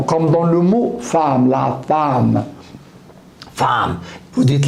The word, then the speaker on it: femme: comme dans le mot femme, la femme. Femme, vous dites la femme. Je l'écris avec un E, mais je le prononce A.